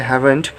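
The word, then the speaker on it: haven't: इसका प्रोनाउंसिएशन है हैवेंट।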